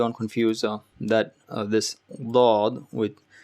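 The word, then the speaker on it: ض: on to it and try to make a mumbling, forcibly, forceful sound. That sound, like, hold it and try to say something, that sound, and now let it out. Dod, dod. So there's a moment of squeeze or moment of press. You're pressing the left or right side of your tongue to the adjacent gum.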